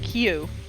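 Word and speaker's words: 九: If you're not aware, a way to pronounce 9 in Japanese is Q.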